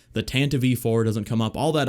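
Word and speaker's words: Tantive IV: feels odd to even say it that way tan to v4 because i've been saying tantiv for my whole life although to be fair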